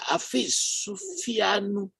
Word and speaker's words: Afis Sufianu: Afis Sufianu. Excuse me if I don't pronounce your name very well. You actually pronounce it very well.